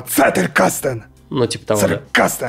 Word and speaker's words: Zettelkasten: Zettelkasten! Ты все правильно сказал в конце, но вначале с C начать. А Zettelkasten!